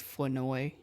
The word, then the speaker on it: Flournoy: did you see that they came out and you brought up Ryan Flournoy or Flournoy. That's how you're supposed to pronounce his name is Flournoy.